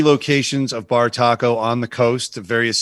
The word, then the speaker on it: Bartaco: Bartaco sounds like it's spelled like it sounds. BAR taco, one word.